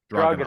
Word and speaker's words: Dragunov: Dragunov.